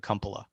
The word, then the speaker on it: Kumpula: Is it Kumpula? You can pronounce it any way you want, Sean. My family pronounces it Kumpula.